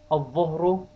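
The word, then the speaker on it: الظهر: Al-Dhuhru, the lam is not pronounced.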